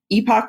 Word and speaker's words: epoch: And so it turns out that we have entered a new epoch or epoch, depending on how you say it, of geology.